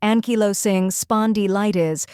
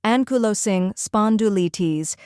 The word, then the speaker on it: Ankylosing Spondylitis: The correct pronunciation is ankylosing spondylitis. Let's break it down step by step. First part, ankylosing, not anky, but anku, and emphasize the low.